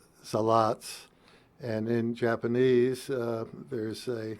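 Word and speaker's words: Salat: about the Zaratsu from Zalatz. So, of course, in German, word initial S is pronounced Z in English, and the word final Z is Ts, a TS sound. And so you have Zalatz.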